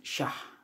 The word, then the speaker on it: Syah: Bukan sah tapi syah.